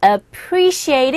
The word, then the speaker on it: appreciate: appreciate 이 부분에 appreciate 이 부분에 이 부분에 강세가 있죠. 그래서 이 앞에 나온 모음에는 강세가 없기 때문에 여러분들이 소리가 잘 들리지 않는 경우가 있습니다.